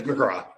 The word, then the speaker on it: McGrath: Is Liam McGrath you pronounce it McGrath? Is that It is McGrath.